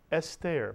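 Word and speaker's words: אסתר: First syllable is S, mitsuyan, segol under the aleph. And how about the second syllable? Ter is right. Put the word together. Esther, mitsuyan.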